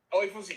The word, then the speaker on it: Oyefusi: It's like Oye. I don't want to butcher his name. Oyefusi? Oyefusi, yes. Yeah, okay, yep.